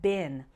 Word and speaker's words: been: finally we'll look at bin note the pronunciation difference between being and Bin which rhymes with win and pin repeat after me being